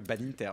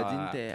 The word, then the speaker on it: Badinter: Comment tu prononces Ah oui, moi Badinter. Moi j'étais Badinter. Ah, ok. à l'English. T'as un agenda. Voilà, on va le faire à la France, Badinter.